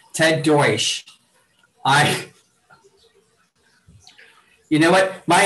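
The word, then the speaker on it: Deutch: and you but uh ted douche i'm sorry i'm sorry i'm deutsch is that it oh my god i said it wrong again ted deutsch i you know what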